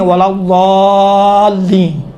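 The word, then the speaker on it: ولا الضالين: نہیں ہے، ولا ضالین، یہ دیکھیں تھوڑا سا موٹا بنائیں، آپ دال کا تصور کریں، دا ولا ضالین، یہ دال کا ہے، خود تصور کریں، ہاں کہا تھا یہ دال کا تلفظ تھوڑا سا موٹا ہوتا ہے، موٹا آپ کس طرح کریں گے؟ ولا ضالین، دال جیسا ہوتا ہے لیکن کاملاً دال کا تلفظ نہیں ہوتا ہے۔ اما اگر اس سے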